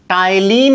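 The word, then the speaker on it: ptyalin: तो यहां पर देखेंगे पी यहां पर साइलेंट है, टाइलिन पढ़ा जाएगा इसको।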